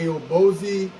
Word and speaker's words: Aobosi: the A A A O B oi I'm pronounced it a o boie 12vt portable car fridge with built-in speakers Bluetooth